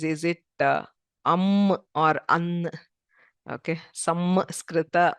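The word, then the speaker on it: संस्कृत: Okay, samskrita or sanskrita. It is neither m nor n. Okay, it is called a pure nasal sound. That is, if you close both the teeth and just the air comes out through the nose.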